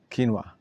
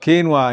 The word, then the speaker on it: quinoa: Quinoa. I'm saying quinoa. Is that the Israeli pronunciation? I know in America it's pronounced quinoa. Quinoa. In Hebrew, we call it quinoa. Yeah, quinoa.